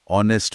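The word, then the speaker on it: honest: जैसे नाइफ में के चुप है, ऑनेस्ट में एच की आवाज नहीं आती, और डाउट में बी बस मौन खड़ा है।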